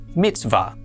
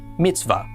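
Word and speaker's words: מִצְוָה: be pronounced va and the hey on the end is silent. So our first syllable would be mitzv and the second syllable va al together this is pronounced mitzvah. mitzvah.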